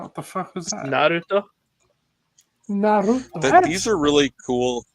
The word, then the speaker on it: Naruto: It's Naruto. Nar. Like an Australian saying no. Like Narwhal? That's how you say it. I think Zoo and I are just saying in a white dude accent, Naruto, dude.